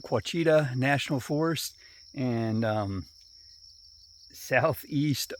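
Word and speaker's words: Ouachita: friday may 27th and i am here in quachita that's how you say it quachita national forest and um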